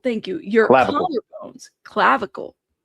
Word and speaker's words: clavicle: Cavicle. Thank you. Your collar bones. Clavicle.